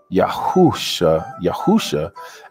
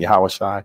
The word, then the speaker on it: Yahawashi: You can pronounce either one of them, but I prefer to say Yahawashi. All right. Now there is a difference. I prefer to say Yahawashi just based off of reading it in Hebrew. When I read in Hebrew, it does say Yahawashi when I read it, you know, because of the characters that are there.